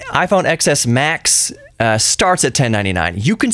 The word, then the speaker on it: iPhone XS Max: But that iPhone XS Max, I said it right. iPhone XS Max starts at $1,099.